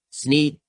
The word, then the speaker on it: Sneed: needs tea and see where feed and seed both end in the centi thus rhyming with the name of the owner sneed the sign says that